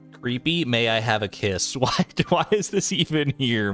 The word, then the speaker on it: Qi: You'll always say it is Mr. Ki. I can accept Mr. Key.